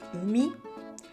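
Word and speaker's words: 海: This letter is pronounced as umi, and it means sea.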